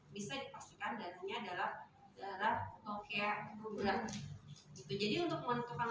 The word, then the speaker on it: lochia: Kemudian kalau kebersihan yang di sini akan kita lihat adalah lokea ya, walaupun tulisannya lochia dibacanya adalah lokea.